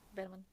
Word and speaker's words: Bergman: I've never heard that pronounced correctly. Bman, thank you so much for pronouncing it correctly.